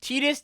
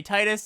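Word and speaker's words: Tidus: And then I was told that's not the right way to say it. People just say Titus in the Final Fantasy community.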